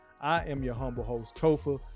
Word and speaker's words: Kofa: I am your humble host, Kofa, K-O-F-A, not coffee, not Kufu, JC, not Kofi, or any variation thereof. Kofa rhymes with sofa.